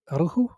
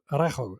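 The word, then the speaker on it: Araujo: Aru. Arjo. Arjo. Arjo. Arjo I think is the way to pronounce it.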